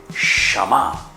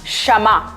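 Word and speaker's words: שמע: Se dice Shama. ¿Cómo se dice entonces, Melissa? Shama. Shama.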